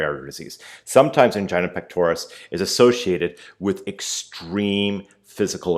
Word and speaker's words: pectoris: pectoris can build up and it's pectoris I know a lot of times I say pectoralis I learned how to say it wrong when we think of